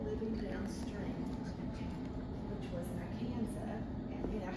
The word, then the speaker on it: Arkansas: And if you pronounce it any other way other than Arkansas, when you're in the state, it is illegal.